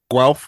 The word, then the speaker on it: Guelph: It's pronounced Guelph.